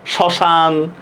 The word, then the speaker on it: শ্মশান: এই দেখেন, শব্দের শুরুতে মফলা যুক্ত হলে মফলার উচ্চারণ হয় না, ঠিক আছে? দেখছেন শ্মশান, স্মৃতি, দেখছেন পড়ায় ফেলছি কিনা?